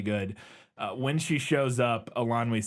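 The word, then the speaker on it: Eilonwy: But I checked in the pronunciation guide. Yeah. And so Elanwe.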